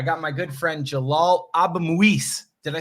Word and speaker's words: Abuimweis: I got my good friend Jalal Abuimweis. Did I say it right? Abuimweis.